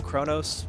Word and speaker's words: Xpovos: I go by, Chronos, Xpovos works. Wait, where's the C come from? The is the Chi.